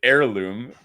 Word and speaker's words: heirloom: card that's insane is having two different H pronunciation sounds on the same card. Why you got to make it learning experience? Okay. It's either herd hair heirloom ord heirloom. It's actually a herd heirloom.